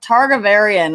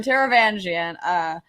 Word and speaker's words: Taravangian: whatever his name is see i always pronounce his name different because i again haven't read the audiobook so i'm like targa varian and that's how we're gonna say it today um taravangian so yeah it's i think sadius